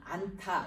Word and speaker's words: 않다: 이 히읗이 들어간 안타, 이거는 이 히읗이 여기 디귿과 합쳐서 티읕 발음으로 이렇게 발음은 이렇게 돼요.